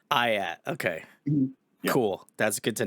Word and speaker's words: IATT: try ream was something so we go back we go by ayat now ayat okay cool that's good